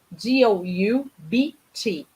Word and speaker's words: doubt: A escrita é D-O-U-B-T. Mas a gente não pronuncia o B. A gente fala doubt.